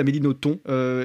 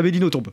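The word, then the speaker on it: Nothomb: à la fin et il y a bien un B qui est prononcé. Voilà, donc voilà, j'avais fait des recherches mais je sais qu'il y a des beaucoup de gens qui disent à Améino ton et qui le disent sincèrement parce qu'ils pensent que ça se prononce comme ça et ben apparemment pas.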